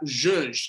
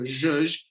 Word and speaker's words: zhuzh: And lastly, zhuzh, and that's how you pronounce it, is a zhuzh.